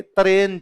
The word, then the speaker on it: तराइन: गौरी ने हिंदुस्तान दे तरन से तरेन मतलब तराइन तो पंजाबी का थोड़ा प्रोनाउंसिएशन वैसे हो जाता है हिंदुस्तान दे तरन